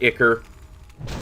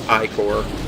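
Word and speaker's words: ichor: iore so I know some people pronounce it ier they been informed it's iore you want to pronounce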